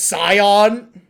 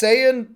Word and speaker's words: Saiyan: Yeah, they also pronounce Saiyan as Scion.